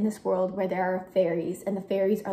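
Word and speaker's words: faeries: I think they're called they're called fairies right it's spelled like f a e r i e s I clearly don't know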